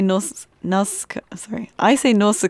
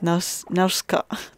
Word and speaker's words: Nausicaa: Well, another tough one, but I always seem to say Nausicaa, but I know in Japanese it's Nausicaa.